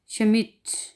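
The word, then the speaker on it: Schmidt: जैसा कि अगली मिसाल है शमिट, इसमें हम डे नहीं पढ़ेंगे यानी कि डे साइलेंट रहेगा, डे जो है वो साइलेंट है।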